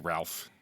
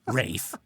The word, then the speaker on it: Ralph: know how to pronounce it right looks like Ralph yeah it looks like Ralph except in the play it's actually how it should be rafe like this is this